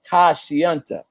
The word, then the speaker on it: Kashianta: It's pronounced Kashianta. Is that right? Yes, sir. Yes, sir. I got it right. Kashianta.